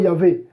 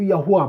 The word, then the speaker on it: Yahweh: Michael, va dire à Moïse que moi je m'appelle le tétragramme, je m'appelle, bon, après Yahweh, Yahvé, ou Yahweh, bon, ça après c'est une prononciation.